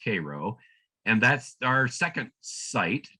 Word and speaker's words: Cairo: This is the town of Cairo, Illinois, spelled like the city in Egypt, Cairo, but it's pronounced Cairo.